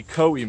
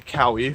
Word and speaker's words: Cowee: I haven't seen a pronunciation for that. It might be Cowee Mountains, but I'm gonna say Cowee for the rest of the video.